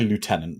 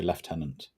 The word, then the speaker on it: lieutenant: we pronounce it differently we don't say Lieutenant do we we say leftenant I want to know